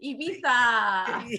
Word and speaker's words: Ibiza: great thank you and you said it right ibiza yeah well i better know how to say